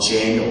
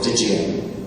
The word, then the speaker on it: jinn: And you have to remember, we refer, and a lot of you are more familiar today, about jinn or djinn. It's pronounced both different ways.